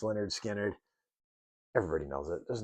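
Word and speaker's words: Lynyrd Skynyrd: Uh, Leonard Skannard, pronounced Leonard Skannard.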